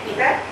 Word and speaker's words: पितृ: पितृ शब्द का यजुर्वेदीय उच्चारण है पितर, सॉरी ऋग्वेदीय उच्चारण है पितर, यजुर्वेदीय उच्चारण है पितृ और अथर्ववेदीय उच्चारण है पितृ।